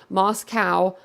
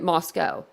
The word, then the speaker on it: Moscow: for tips and gossip mispronouncing the town's name Moscow instead of calling it Moscow Nancy Grace the cable